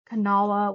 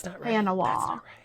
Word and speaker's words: Kanawha: And like Matewan she said Madawoan. Kanawha was like Kanawha. No.